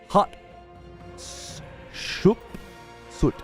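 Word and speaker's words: Hatshepsut: early periods of Egypt despite the name interesting pronounced hot sh suit hot sh suit hot sh suit hot ship suit hot I feel like I've heard it before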